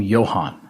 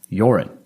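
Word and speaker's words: Joran: the news i was i kept calling him johan and i don't know why i did and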